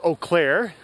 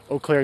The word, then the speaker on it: Eau Claire: This area is called Eau Claire, that we're passing through now. Eau Claire is spelled E-A-U, Claire.